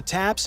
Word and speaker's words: TAPS: that the tank differs is that it has a brand new system called a Top Attack Protection System, TAPS, pronounced TAPS, Another one, with the a advent of a Top whole Attack slew of Protection anti-tank System.